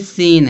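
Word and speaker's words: scene: फिर सीन है। सीन में सी क्या है? साइलेंट है।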